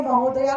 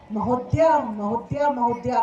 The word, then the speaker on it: महोदय: महोदय या महोदया को महोदया करते हैं. ये महोदया नहीं होता है, आधा द या नहीं होता है, महोदय होता है या महोदया होता है.